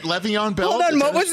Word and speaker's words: Le'Veon Bell: Is that how it's pronounced? Wait, say that again. Is it Le'Veon Bell?